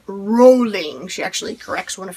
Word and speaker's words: Rowling: time with jk rowling i used to say it rowling i know lots of people say rallying but i watched a documentary video was sort of like her about her life movie thing i don't know it was on netflix it was actually kind of interesting and she says rolling she actually corrects one